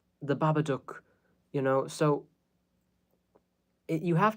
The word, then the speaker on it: Babadook: like you know if you've ever seen the babadook that is by the way everyone mispronounces that title it's supposed to rhyme with